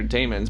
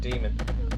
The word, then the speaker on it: daemon: I've heard that pronounced two ways, and I'm not sure. It's I say daemon because that's how it's daemon spelled. Makes more sense, but everyone that I've had some training and things like that from people that have been around a lot longer than I have that call it demon, and I'm not sure which the official pronunciation of it is.